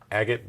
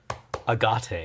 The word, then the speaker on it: Agate: I could I still could play this a agot blade assassin go ahead Cameron whenever it attacks